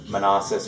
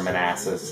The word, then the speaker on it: Manassas: And the one that you can hear in the background is Manassas or Manassas, depending how you want to pronounce it.